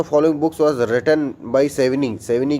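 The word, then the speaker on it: Savigny: इसको सेविनी कहते हैं, लेकिन मैं सेविग्नी इसलिए बोल देता हूँ क्योंकि हमारा स्पेलिंग मिस्टेक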